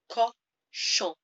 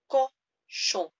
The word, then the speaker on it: cochon: Le cochon. That's a nasal at the end, that on sound. So imagine you're saying song, but don't quite close your mouth at the end. Le cochon.